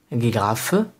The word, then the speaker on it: Giraffe: And the German word for ge is Giraffe. Giraffe. As you can see, there is no difference between giraffe and giraffe spelling, but the pronunciation is totally different.